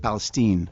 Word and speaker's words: Palestine: And uh but the problem is it's spelled Palestine. And originally we had the song called East Palestine. Palestine uh and everybody read it as Palestine and thought it was about a whole different thing than it was.